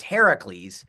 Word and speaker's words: Heracles: yeah I mean her Hercules the actual uh the Greek pronunciation is Heracles and that literally means